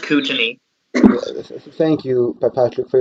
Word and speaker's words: Kootenay: your map what's up it's pronounced kootenay thank you by patrick